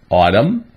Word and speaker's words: autumn: N is a silent letter when it comes after the letter M, as in these examples. Autumn, column, solemn, and hymn.